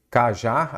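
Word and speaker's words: cajá: Cajar, a sílaba tônica é qual? O já, você separa em vírgula aqui, você separa em sílaba. Aí você já consegue identificar. Ela é oxítona terminada em A.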